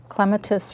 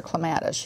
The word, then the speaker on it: clematis: we need to discuss clematis or clematis you can pronounce it either way either pronunciations in the dictionary depends on what you prefer I think the East Coast is clematis and England is clematis and then we usually